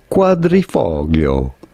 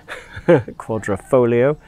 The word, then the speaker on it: quadrifoglio: say four leaf clover how do you go about pronouncing it quadrifoglio quadrifoglio quadrafolio uh with a the silent g um let's suppose so quadrifoglio is the uh the hard g anyway um i'll be